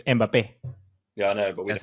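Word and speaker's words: Mbappé: you say do you say mbapp or mbappe mbapp oh wow is it's it's it's because it has the accent in the E so it's mbappe yeah I know but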